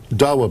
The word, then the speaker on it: Dawa: say that a member of the, is it Dawa? Is that how that's pronounced? Yes. The Dawa party, who was at the Sunday meetings when